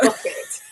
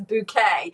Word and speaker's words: Bucket: She's actually spelled bucket. But she likes to pretend that she's more upper class than she is. So rather than pronouncing her name Bucket, she says Bouquet.